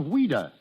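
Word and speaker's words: Ouida: French but English but why did she use the pen name of weda because as a child that was the way she pronounced Louise she was a strange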